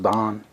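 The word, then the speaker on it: Daan: up too bad there it's a d-a-a-n i guess it's pronounced don okay what he sent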